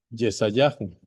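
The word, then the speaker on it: ישעיהו: Recuerden que en hebreo Isaías se pronuncia Yesayahu y dice de la siguiente manera, versículo 1, Nahan, Nahan, que significa consolad, consolad.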